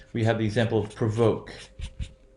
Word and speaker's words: provoke: So what happens in this case is, notice there is no shift in the position of accent. Provoke, provocative. That means it's that second syllable that will be stressed.